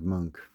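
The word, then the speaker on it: Moench: Mike Zeck, and I believe that's pronounced Monk, Doug Monk.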